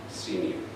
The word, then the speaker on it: Siemion: Our last name is pronounced Siemion. Dad corrected me forever, and so I got used to saying Siemion. Siemion.